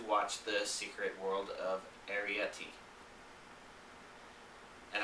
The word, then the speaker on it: Arrietty: the secret world of arietti and i remember to pronounce it that way because it's like aries the sign the constellation but it ends with eti like a yeti or a snowman or